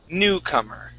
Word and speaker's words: newcomer: Okay, so the stress is at the beginning. This O is an sound. Okay, so it's newcomer.